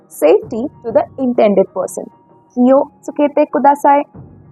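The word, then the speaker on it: 気をつけてください: Kiyo tsukete kudasai. Kiyo tsukete kudasai. Now here, you don't explicitly pronounce wo, but to sound more natural like the Japanese, this is pronounced as o.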